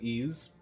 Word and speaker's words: Ys: The YS series, pronounced like Ease, the Ease series, I have not.